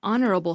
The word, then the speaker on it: honourable: an H sound but it's an honourable fellow because honourable starts with an O sound squiggly had a utopian